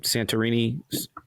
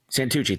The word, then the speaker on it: Santucci: How do you say his name? Santorini? What is it? Santucci.